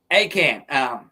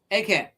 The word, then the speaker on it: Achan: I'm not sure exactly how it's pronounced. It's Achan. Achan.